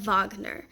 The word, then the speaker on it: Wagner: this is gonna be Richard Wagner or really in German it's Ricard vogner it's typically how we say his name vogner's got some amazing